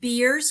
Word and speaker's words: Beers: There is something called beers criteria. It's spelled like beer with an S, like root beers, and they will list every drug that's not recommended for older adults.